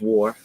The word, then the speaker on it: War: Her name is War, and I don't care how you think that's pronounced. It's War.